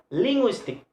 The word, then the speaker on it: linguistic: for example in word ending in a more linguistic linguistic so linguistic the stress is the second syllable linguistic so mystic have